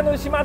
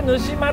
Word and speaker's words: 沼島: 、これがぬしまです。沼島と書いてぬしまと読みます。